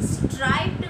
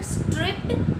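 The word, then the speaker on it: striped: ऐसा कुछ, ठीक है, तो उसका प्रोनंसिएशन करेंगे नॉट स्ट्रिप्ड, इट्स स्ट्राइप्ड.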